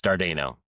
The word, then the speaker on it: Dardano: Years of elementary school has kind of shielded me from caring, but it's Dardano.